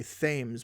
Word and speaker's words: Thames: lot of americans say thames but it's not pronounced themes it's the thames that's